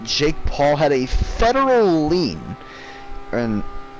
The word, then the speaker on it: lien: paul had a federal lien and i'm not talking about like leaning on something it's called it's spelled l-e-i-n-a-lean and this is something